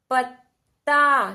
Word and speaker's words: पत्ता: देखिए छोटी सी ध्वनि आ रही है इस त की। ये क्या है? प ता, पता। ये तो क्या बन गया? पता। पर हमें क्या बोलना है? पत्ता। कैसा उच्चारण निकालना है? पत्ता, क्योंकि हमें छोटा त यहां पर दिखाई दे रहा है, तो हम क्या बोलेंगे? पत्ता।